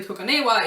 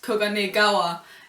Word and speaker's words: Koganegawa: Kageyama getting Koganewa's name wrong, and something I figured out I also do because his name isn't actually Koganewa, it's Koganegawa, and I just call him